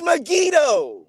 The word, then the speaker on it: Megiddo: says that solomon built nigadoo no it's not megiddo brother it's not it's me it is megiddo it's not brother yes it is like you